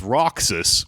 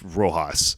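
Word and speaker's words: Roxas: this guy Manu Manuel Roxus Roas I think is how it's pronounced. It's it's Roxus, which is the name from Kingdom Hearts, but it's Rojas. I think a lot of a lot of this is I guess it's just Spanish.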